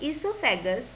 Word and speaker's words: oesophagus: In oesophagus, O is silent.